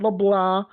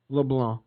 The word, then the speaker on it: LeBlanc: out there that's wondering to pronounce my last name it's not la blah it's not leblanc it's not leblanc it's just leblanc leblanc that's it it's that must be